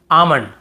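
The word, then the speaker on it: almond: पाम और यहां पे आमंड बहुत से लोग आलमंड ऐसे बोल देते हैं बहुत काल्म बालम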